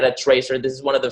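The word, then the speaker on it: Trezor: is open source at this boil it's the tracer then spell that for us because it's not it's a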